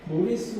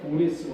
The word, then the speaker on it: 고레스: 고레스 왕과 결혼하는 겁니다. 고레스 왕의 부인이 카산다네라는 사람입니다. 자, 카산다네를 우리는 키루스 2세라고 이야기합니다. 우리가 역사 시간에 배운 것은 고레스라는 발음을 배우지 않고 키루스 2세를 배웁니다. 그래서 키루스 2세가 고레스 왕이다 이렇게 여러분들이 이해하시라고 적어놨어요.